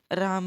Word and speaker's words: रामः: आपको कभी भी गलत उच्चारण नहीं करना है शब्द रूप के अंदर। अगर आप अभी राम है के साथ विसर्ग बोलने में गलती कर रहे हो, आलस्य कर रहे हो,